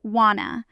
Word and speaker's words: want to: U and native speakers almost never pronounce it fully. Listen to the difference. Slowly carefully. I want to unwind for a bit. You at natural relaxed speed. Want to nearly always compresses into w to.